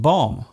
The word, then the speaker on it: bomb: For example, the B in comb, womb and bomb. There is only one letter change between these words, yet they are pronounced differently. Other words containing silent letters